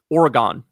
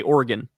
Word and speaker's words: Oregon: The other thing is I used to say um Oregon like Oregon Trail, but then people bullied me out of that one and now I say Oregon. Oregon. Oregon Trail.